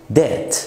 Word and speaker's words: debt: البي برضه في الانجليش بتبقى silent لو وجاء بعدها تي وقبلها vowel، زي كلمة شك في الانجليش doubt، زي كلمة دين debt، فيش حاجة اسمها dipped، كمان كلمة saddle يعني طفيف.